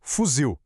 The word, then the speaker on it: fuzil: Pensa em palavras como café, papel ou como no nosso desafio, fuzil. A gente fala o zio mais forte, né? A ênfase é sempre no final.